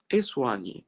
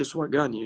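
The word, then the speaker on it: soigner: سواني ما اقولش سواجاني، الجي لما بيجي على ان ما بتتنطقش.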